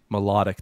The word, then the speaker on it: Milotic: Melodic, that's how it's pronounced. That was my second guess. Sure. Milotic.